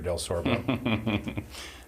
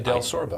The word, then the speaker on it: Delsorbo: and it's, if you just read it, it's pronounced exactly like it's spelled, but it's difficult. We're the only one in Tennessee. The only Delsorbo.